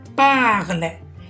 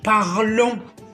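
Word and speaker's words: parlent: كي نصرفوه مع الجمع الغائب نزيدوا له ENT مرتبطة بلا كونجيغيزون، ولهذا ما ننطقوهاش، نقول parle parle، ما نقولش parlons ولا parlante، parle.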